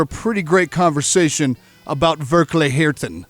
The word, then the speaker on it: Verkligheten: And please, go ahead and pronounce the record, because I'm failing every time I try. Verkligheten. Verkligheten.